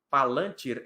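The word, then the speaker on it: Palantír: Saulo estava lembrando que a pronúncia correta de Palantir é assim mesmo, né? No lan, a sílaba tônica, Palantir.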